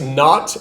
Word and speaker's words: naught: x equals x with a subscript zero we pronounce this x naught n a u g h t it's another way of saying zero so x equals x naught plus v with a subscript that's pronounced v